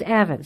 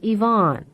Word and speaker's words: Evan: During Evan Ramsey's murder trial, news reporters and even the prosecutor regularly mispronounced the boy's name. He was Evan, sometimes Yvonne.